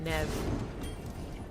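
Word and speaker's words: Neve: okay let's go get Nev I realiz I've been pronouncing it wrong but been saying Neeve this whole time oh hey babe what's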